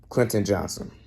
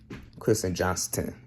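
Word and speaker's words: Quentin Johnston: To me, Clinton Johnson. Kristen Johnston with the T in the Johnson.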